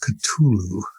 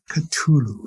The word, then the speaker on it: Cthulhu: It's pronounced Cthulhu. Cthulhu.